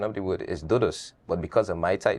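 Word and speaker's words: doux doux: word it means sweet sweet the correct pronunciation of the word is dudus but because of my tie tongue I say duduk and that's why I chose to go about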